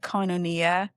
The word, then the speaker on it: Koinonia: It there's a many Anglicized pronunciations say it Koinonia, and there's a Koinonia